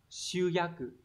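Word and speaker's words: 集約: Từ số 1 này, hán tự là chữ tập và chữ ước, đọc là shuyaku.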